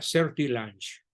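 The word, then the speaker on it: Sertillanges: celty launch describe serquillajes se pronuncia ser lange según las expresó en un libro que en su momento fue ser te faltó una n Ricardo es ser tilanges no ser tillajes sino ser tilajes se pronuncia cerdo y lunch exactamente tratemos ahora pues de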